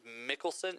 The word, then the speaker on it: Mikkelsen: It's Mads, M-A-D-S, and the last name is Mikkelsen, M-I-K-K-E-L-S-E-N. So I would say Mikkelsen. Mads Mikkelsen. Mads Mikkelsen. What a cool I name. would say. Mads Mikkelsen.